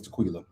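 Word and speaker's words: Taquilla: if I'm wrong I think her name is Tequila because that's how it's spelled t-a-q-u-i-l-l-a I believe my name is Tequila so it ended up coming down between tequila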